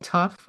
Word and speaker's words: Tough: The writer of the article is Paul Tough. I think I've said that correctly. It's spelled t o u g h.